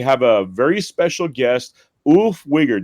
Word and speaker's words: Ulf Wiger: Today we have a very special guest, Ulf Wigger. Did I say that right? Pretty close, yeah. How do you say it? Ulf Wieger.